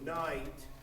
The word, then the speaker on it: night: And that entire vowel, it's a diphthong. And a diphthong is 2 vowel sounds in one syllable. So night, I have 2 vowel sounds there. Na, eat.